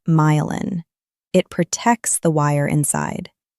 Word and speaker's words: myelin: The plastic sleeve on the outside is called the myelin sheath, pronounced myelin.